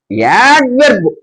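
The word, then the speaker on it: adverb: వెర్బ్ తర్వాత యాడ్ వెర్బ్, ఇక్కడ కూడా లైట్ గానే పలకండి, యాడ్ వెర్బ్.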